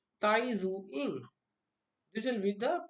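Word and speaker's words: Tai Tzu-ying: with T tiny zoo in here the second T is silent will pronounce it as Tai zu in little with the pronunciation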